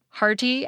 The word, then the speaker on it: hearty: That’s what turns pairs of words such as “atom” and “Adam,” “hearty” and “hardy,” and “bitter” and “bidder” into homophones.